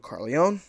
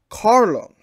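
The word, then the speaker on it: Corleone: like I messed up I mispronounced Dawn V2 carleone as Don Vito Carlo for two episodes of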